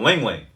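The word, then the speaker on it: ylang-ylang: frankincense and they have a essential oils called ling ling it's spelled y-l-a-n-g-y-l-a-n-g um i can't remember what the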